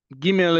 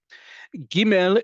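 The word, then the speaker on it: גימל: Giml is one I know very well and you're about to find out why. Giml is pronounced like the American English hard G like in get.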